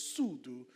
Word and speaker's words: Sudu: those that were wondering and correct pronunciation is Sulu so just wanted to